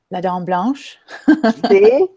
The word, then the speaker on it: La Dame Blanche: about Outlander episode 204 I'll let Netanya pronounce it so we can get it correctly nodame blush of course I've of a slight french-canadian accent I say that is a brow instead of blush but that's ok much